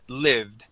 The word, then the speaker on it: lived: So, we're going to use a short I. So, instead of saying lived, it is lived.